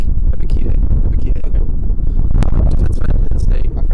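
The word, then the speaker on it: Ebiketie: Is that how you say it? Ekpedite. It's Epikide.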